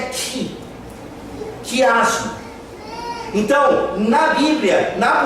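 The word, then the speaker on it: χ: Não apenas uma relação de uma direção cruzada, mas o quiasmo que vem da palavra ou da letra X do grego, cuja pronúncia é ki, quiasmo.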